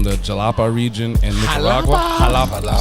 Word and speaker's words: Jalapa: Jalapa. I'm saying, I keep forgetting that J is silent.